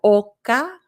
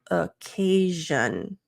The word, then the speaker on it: occasion: the most accurate sound not Oka but occasion and something you can